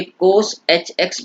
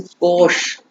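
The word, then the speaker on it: cosh: Sine एच एक्स जो लिखा हुआ है, इसको इनका जो प्रोनाउंसिएशन है ये कोस एच एक्स पढ़ते हैं कई बार, लेकिन कोश, इट्स कोश नॉट कोस।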